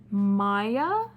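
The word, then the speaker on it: Maia: rubber Plantation in Brazil Maya is pronounced is spelled m-a-i-a Maya must leave her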